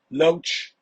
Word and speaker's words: Loesch: do know that you're name rhymes with roach right Loach Roach I think it's